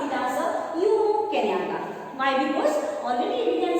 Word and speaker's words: Jomo Kenyatta: Here the lesson, The Gentleman of the Jungle, the first chapter, and here it is written by Jomo Kenyatta.